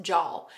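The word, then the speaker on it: żal: And this is actually a Polish emotion, and it's pronounced Jal.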